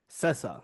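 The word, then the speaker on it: Sessa: Joy Randolph that was pretty close Dominic cessa cessa that's how you say it but yeah it's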